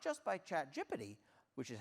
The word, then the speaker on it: ChatGPT: And amusingly, I did have this talk edited not just by ChatGPT, which is how you do pronounce it, but also by GitHub Copilot.